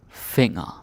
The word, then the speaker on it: finger: elbow hun hun hand finger finger finger okay but it's important you pronounce it differently yeah it's the same spelling as in english but the g is what i call a shanghai g and get the n